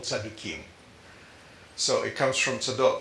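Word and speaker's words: צדוקים: You know, if you think of it, that you hear that Sadducee is a Greek way of pronouncing it. In Hebrew, they're called Tzadukim.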